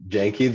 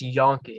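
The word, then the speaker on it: Janke: uh jackson and jaden janky the donkey it's pronounced yankee donkey sorry yeah i got that one wrong too twin receivers yes they're both 6 3 2 10.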